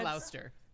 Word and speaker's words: Gloucester: worried about how that was gonna happen, I and think yet it's Gloucester. I think it's one of those cities where they have like 9 extra Gloucester, syllables.